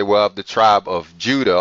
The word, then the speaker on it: Judah: of the tribe of Judah or Yuda if you try to pronounce it correctly which consisted of only